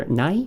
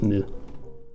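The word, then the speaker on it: 無: good one to know it's pronounced either at nigh or if it's part of a word it's usually pronounced as mu okay so produced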